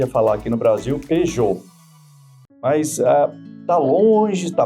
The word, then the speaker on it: Peugeot: É muito forte e ali é um p e u éjô.